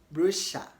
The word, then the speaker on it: brochure: rhyme with Elisha okay Brusha to rhyme with the name Elisha and in American English they pronounce it as brochure brochure to rhyme with Joshua okay to rhyme with